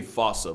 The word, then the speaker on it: fossa: Bane to lemurs everywhere the fusa although with its spelling I'm pretty sure it's actually fossa but the day I